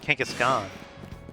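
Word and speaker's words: Kangaskhan: Alpha Kangaskan back there. Why' I say it like that? Kangaskan. Kangaskan is like the American way.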